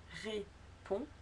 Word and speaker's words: répond: Peter Hook leur répond, ne pas prononcer le D, leur répond avec humour et flegme.